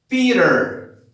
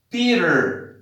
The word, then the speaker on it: Peter: Now, most of the words that have T in the middle sounds like R. For example, Peter, Peter, you see? You have the T in the middle of Peter and you pronounce with R. You have to make the sound like you have an R.